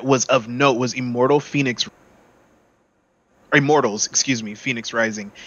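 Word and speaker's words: Fenyx: immortals phoenix rising and phoenix ain't even spelled the way you think it is f-e-n-y-x they said how can we spell this wrong and people still say it right why didn't they just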